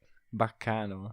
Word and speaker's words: Baccano: guys, everyone's had the pronunciation wrong for years. I didn't even realize it was Italian. Baccano.